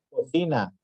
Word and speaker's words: cocina: Las palabras graves son aquellas cuya sílaba tónica es la penúltima. Esto nada más de aquí lo que se tienen que aprender. Son las que llevan la sílaba tónica o la pronunciación o la entonación o el énfasis en la penúltima sílaba.